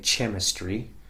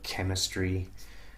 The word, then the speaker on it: chemistry: Okay, so the letter H here is really unvoiced, it's silent. You wouldn't say chemistry or echo, for example. It's not possible. It says echo, chemistry, school.